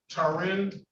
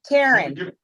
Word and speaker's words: Taryn: The pronunciation of your first name is Tarin. It's Taryn.